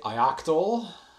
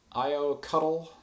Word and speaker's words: ioctl: I've heard people say ioctl, IO cuddl. There was just a tweet on this about a colleague of mine using a different pronunciation for IO control every time he said it. Ioctl is, yeah, so we'll start the religious war now on chat. Ioctl, IO cuddle, EO cuddle.